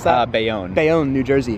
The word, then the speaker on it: Bayonne: How do you pronounce that? Bayonne.